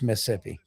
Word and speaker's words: Mississippi: grow up in Mississippi, it's not Mississippi, it's Missippi. It's m i s s i p p i. Missippi. That's how you That's how you say it.